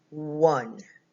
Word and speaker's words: one: the oh I'm sorry the E is silent at the end so it's one it kind of sounds like a w you one w u and one wah hmm wha hmm okay